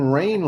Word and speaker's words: Rayne: So in Rain, Louisiana, that's spelled Rayne.